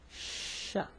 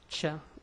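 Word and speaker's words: ش: So 3 dots, and it's called Sha, you know. So the Sha sound, not Cha like the Spanish. No, it's Sha, you know, Sha.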